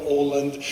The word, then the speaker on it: Aaland: I'm Mikland and it's pronounced Oland. You you'll see it written and you'll get confused but it's a Norwegian name.